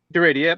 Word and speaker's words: Daredia: Deredia. Deredia.